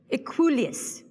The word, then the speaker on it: Equuleus: Equuleus. Are there any alternative pronunciations?